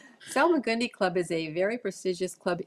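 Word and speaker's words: Salmagundi Club: salong gundi Club yeah I always want to call it the salmonella club salag gundi club is a very prestigious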